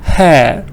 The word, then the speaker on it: hair: British, we just say caw because there is no vowel after R.